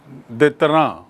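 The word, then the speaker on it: détente: अंग्रेजी में न्यूनतम अवरोध को कहते हैं मिनिमम देतरा आप अंग्रेजी में इसकी स्पेलिंग देखेंगे। यह एक फ्रेंच शब्द है। इसलिए इसका उच्चारण है दैतरा to achieve position of minimum दैत्रा।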